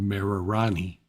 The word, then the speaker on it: Marirani: Yeah, they can't pronounce, when they say it, it sounds like Marilani, but it's spelled Marirani with an R instead of an L. But when they say it, what we hear is L instead of R.